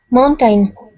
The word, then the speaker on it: mountain: Carolina, by the way, in English, Spanish speakers and Portuguese speakers tend to really stress the second syllable of this word. It's really, in English, it should be very unstressed, should be just a schwa sound, short and fast. Mountain, mountain, mountain, tin, mountain, like that.